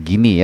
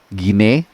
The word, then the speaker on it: Guinea: Ya, sekali lagi bacanya Guinea ya, bukan Guinea, bukan Guinea. Ya, seperti kita baca Papua Nugini gitu ya.